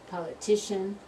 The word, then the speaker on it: politician: come to the politics politician political parties or politics politician political ok so politics first syllable politician third syllable political is the second sofa so in politics